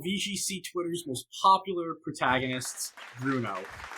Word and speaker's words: Bruneaux: you yeah I'm Bruno nobody calls me except for Tanner everybody calls me Bruno that's my last name my last name is spelled wrong with the eax because it looks cool um I'm a musician